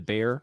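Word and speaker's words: Bexar: The shipyard that was building his next ship, the Bear, which is spelled BEXER AR. Yeah. Thank you. It's a Texas term.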